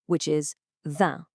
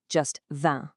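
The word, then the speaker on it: vingt: And that brings us to our absolute ceiling for this explainer, the number 20, which is the. The v and the t at the end, completely silent, just the.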